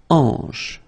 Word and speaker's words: hanche: La hanche, remember, H here is not pronounced, so you get the sound en, hanche at the beginning.